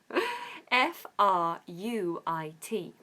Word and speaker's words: fruit: but we spell it we say it as if it's double O oo FR fruit fruit so don't get confused by those vowels in the middle say it like it's a double O ooh FR fruit I like fruit